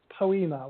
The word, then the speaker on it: Poema: Yeah, my podcast, it's called Poema, which is it's spelt poem and then an A on the end.